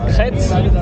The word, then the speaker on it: Crêtes: Just we're trying to spread the correct French pronunciation. Yeah. So it's called Crêtes, and so because in